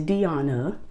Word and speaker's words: Deana: I'm big on saying my name right. I do not play about saying my name right. It's Deana, D-E-A-N-A.